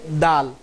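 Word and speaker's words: د: এই হরফটার উচ্চারণ হবে জিহ্বার আগা সামনের উপরের 2 দাঁতের গোড়ার সাথে সংযুক্ত হয়ে হরফটির উচ্চারণ হবে এইভাবে। আপনারা আমার দিকে খেয়াল করুন, দাল দাল দাল।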